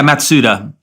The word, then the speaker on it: Matsuda: so we have Crenshaw matsudo and Lawrence in mitsuto have I got that pronunciation right yeah matsuda matsuta okay and who would you say their